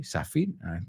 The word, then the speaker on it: sapphire: And the Star of India is a sapphire. Okay, sapphire, I think you say. Con nosotros es con P-P-H. So S-A-P-P-H-I-R-E. Sapphire.